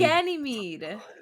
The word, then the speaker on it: Ganymede: Ganymede. It's Ganymede. Ganymede.